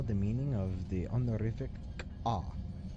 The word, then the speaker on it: K'ah: meaning of the honorific K'ah. It is spelled Q-A. K'ah.